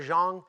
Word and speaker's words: Jeong: He recently released his first Netflix comedy special, Ken Jeong, You Complete Me, Ho.